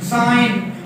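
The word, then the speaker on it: sign: जी को आपने कब साइलेंट करना है? अमूमन जो है वो एन अगर फॉलोड बाय जी है, ठीक है, यानी एन से पहले जी है, जी साइलेंट हो जाता है, बड़ा मशहूर है जी। मसलन साइन, इसको साइन पढ़ते हैं, साइन करना, दस्तखत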